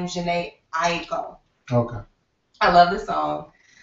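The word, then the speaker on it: Jhené Aiko: This week I chose a song by, I believe you pronounce her name, Janae Aiko.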